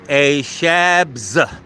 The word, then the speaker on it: ASHABZ: So ASHABZ. Pronounced A Shabs.